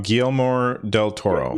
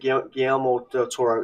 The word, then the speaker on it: Guillermo del Toro: It's directed by is it Odero Toro? Is that how you pronounce his name? Guillermo del Toro. Yeah, that's it. Guillermo del Toro.